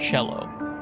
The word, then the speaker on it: cello: Italian violin cello and Italian almost always has that CH sound for a c that precedes an e comes from Italian pronounced